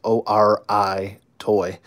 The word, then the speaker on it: Ori Toy: It's O-R-I Toy. Ori Toy, I believe that's how it's pronounced.